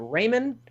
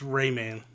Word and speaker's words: Rayman: Is it Raymond? Rayman? It's Rayman.